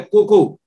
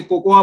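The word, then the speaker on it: cocoa: है, और वो है कोको, जिसको कई लोग गलती से कोकोआ बोलते हैं। कोकोआ नहीं है, हिंदी में उसका प्रोनाउंसिएशन कोको होता है, इंग्लिश में लिखा जरूर कोकोआ जाता है।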